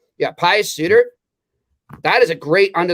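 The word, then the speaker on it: Pius Suter: you know pious suit i might pronounce it sooner like ryan suiter yeah pious suitor that is a great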